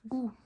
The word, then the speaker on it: god: The D is not pronounced god. It's just god.